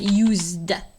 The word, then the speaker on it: used: Le S ici se prononce z. Dans ce cas-là, l'exemple, c'est used.